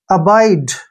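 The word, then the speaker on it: abide: अब देखिए next word a का उच्चारण यहां पर हम क्या करेंगे अ और बी का उच्चारण ब और आई को हम आई ही पढ़ेंगे यहां पर ऐसे डीई का उच्चारण ड करेंगे ठीक है ना अाइड देखिए अाइड अाइड क्या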